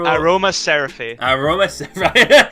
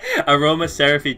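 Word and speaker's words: Aromaseraphy: Well, how do you pronounce that? Aroma Seraphy. Aroma Seraphy Jasmine.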